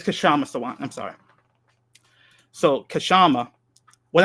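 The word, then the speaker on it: Kshama Sawant: So is it Kashant or Kashama? I'm sorry. Let me get the pronunciation. Let me get the pronunciation right. I got you. Oh, yeah, it's Kashama Sawant.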